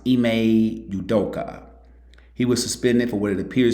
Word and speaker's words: Ime Udoka: I believe it's pronounced Ime Udoka.